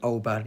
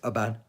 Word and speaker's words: Oban: You don't say Oban, it's Oban.